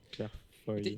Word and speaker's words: Claire Foy: Mais ça s'écrit Foïs comme. Non, mais elle, c'est un Y, Claire Foy. Mais je dis foi parce que je suis une connasse. Mais c'est Claire Foy.